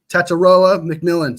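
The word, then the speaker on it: Tetairoa McMillan: T mcon McMillan all right there we go taroa McMillan see we learn on stream we learn together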